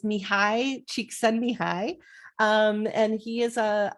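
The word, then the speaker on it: Csikszentmihalyi: just tell you that the way that you pronounce his name is mihai cheek send me high um and he is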